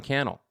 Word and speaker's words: Cannell: be like uh Sean Cannell YouTube rhymes with a YouTube channel right like I love